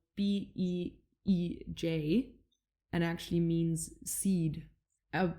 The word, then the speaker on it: Bij: So Sat Nam is a Bij mantra, and Bij is spelled Beej, and actually means seed.